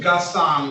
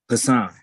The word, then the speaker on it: Hassan: This is the city of Detroit versus Hassan, or is it Gaston? Hassan. G is silent.